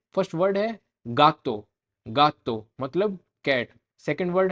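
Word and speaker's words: gigante: अब इसमें आप देखोगे हिगांते में जी के बाद में फर्स्ट जी के बाद में आई है इसलिए हम इसको है की साउंड से पढ़ रहे हैं, हिगांते। लेकिन सेकंड वाले जी को हम गे की साउंड बोल रहे हैं क्योंकि उसके जस्ट पीछे ए है तो हिगांते, हिगांते।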